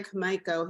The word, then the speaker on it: Komaiko: And today I'm so excited because we've got Leah Komaiko here. I pronounced your last name correctly, right?